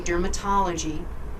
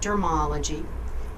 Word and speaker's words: dermatology: medical dictionary that we know we should say dermatology not dermology and if you look up in the dictionary